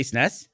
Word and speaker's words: SNES: How do you say the abbreviation? SNES. You do. You say SNES.